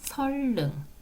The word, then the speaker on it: 선릉: 리을로 바뀌는 유마 현상이 일어나는 거예요 그래서 선능 설릉 설 능 이렇게 발음이 되는 거예요 그러니까 유라고 하는 것은 니은을